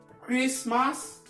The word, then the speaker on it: Christmas: Au premier, il s'agira de faire attention à la prononciation de la lettre T dans certains mots comme listen, often, castle, whistle, soften, Christmas, mortgage, gourmet. Voilà comment on prononce la lettre T dans ces mots.